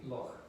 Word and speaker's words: Loch Ness: pronounce it well uh according to the local pronunciation this would be like scottish gaelic so it would be lock but british people british